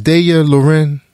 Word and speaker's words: Daya Lorin: now I must say her name is de year Lauren is everybody digging the rabbit that is right that man got it right it was practicing too